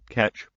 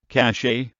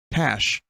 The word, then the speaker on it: cache: How do you pronounce it? Catch. Oh, you fucker. Let's try that again, Charles. Cache. Nice. Nice work. Good job. No, it's I spelled it like that on purpose. Catch. It's cat. Why is he saying catch? Cash. Catch. All right, dude. How about Ryan from the U.S.? Cash. Oh, okay. I've been saying it wrong the whole time.